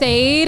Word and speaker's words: Ade: So Vibe with Aid um I say aid like lemonade that's how it's spelled a D.